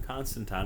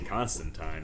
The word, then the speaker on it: Constantine: And I'm sure some of you are going, Corey, why do you keep saying John Constantine?